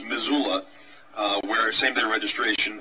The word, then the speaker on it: Missoula: a relatively small County of I believe it's pronounced Missoula uh where same day registration election day registration